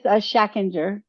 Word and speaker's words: Schachinger: when it comes too so my last name is shacker um and according to our German seos I do not say it correctly so which is true I say it the American way um and then uh